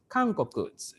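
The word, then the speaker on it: 韓国: Sir, can I ask how do you pronounce South Korea? South Korea. Okay, South Korea is Kangkoku.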